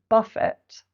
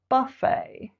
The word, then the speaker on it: buffet: And pronunciation, not buffet, but buffet. Buffet.